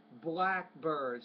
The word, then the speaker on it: blackbirds: time couple words here blackbirds stress on that first compound noun blackbirds actually it's an